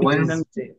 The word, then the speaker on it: Wednesday: হ্যাঁ, ডিটা খুব অল্প, ওয়েডনেসডে। ডিটা তো থাকবে খুবই হালকা করে, ওয়েডনেসডে।